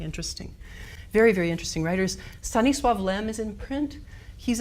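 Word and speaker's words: Stanisław: on the cover um it should be sunny with the l bard has a little thing through it um to make it sound like a w and mostly it's not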